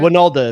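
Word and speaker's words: Wynalda: Winalda, it's pronounced.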